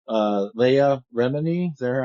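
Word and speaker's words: Leah Remini: according to um to what's her name uh Leia Remeny is that how you pronounce it Leah Leah yeah Leah Remeny said that John Travolta has uh I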